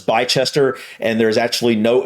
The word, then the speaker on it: Bicester: I would pronounce this Bicester, or Bicester probably. But I bet it's Bicester. I bet there's, I don't know. I have a feeling it's Bicester and there's actually no H there, but I